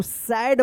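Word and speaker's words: said: एंड एस ए आई डी क्या पढ़ेंगे इसको सेड पढ़ेंगे इसको सैड मत पढ़िएगा सेड पढ़ेंगे क्योंकि ए आई का ए उच्चारण होता है।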